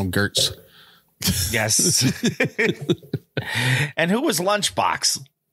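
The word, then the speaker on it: Goetz: But his last name is spelled G-O-E-T-Z. And I said, yes. You need to throw an umlaut on there so I can call you Gertz.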